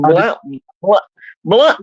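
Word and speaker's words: Blount: believe which is in Blunt County uh I don't know why it's spelled blun County it makes no sense but I always called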